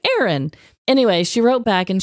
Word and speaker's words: Aron: e r o n Hey Ron yeah or is it just pronounced like Aaron anyway she wrote back and she's like actually it's pronounced just like Aaron even though it's spelled